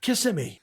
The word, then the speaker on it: Kissimmee: He says, "Oh, well, we're in Kissimmee." She said, "No, I think it's pronounced Kissimmee."